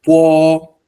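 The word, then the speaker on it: 剝: Po, eso es Po, así se pronuncia.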